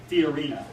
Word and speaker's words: Fiorina: love Ben Carson or if you love Carly Fiorina.